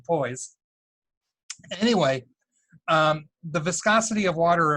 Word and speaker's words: poise: reason have an uncontrollable urge to pronounce this word the French way which would be pause so if I say flaws in the near future I really mean poise anyway the viscosity of